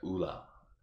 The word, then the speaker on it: Woola: But Parika leaves just only mentioning one word: Woola. Ula or Ula. Yeah, Ula. The W is silent.